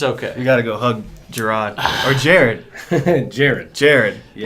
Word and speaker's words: Jarod: So, if you like to be called and it pronounced Jarod, then you have the correct spelling, Jared. Thank you. Right? But if you like when people call you J-Rod, then I have the right spelling.